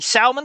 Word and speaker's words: salmon: Call me Salmon Sam or Salmon Sam. The L is silent.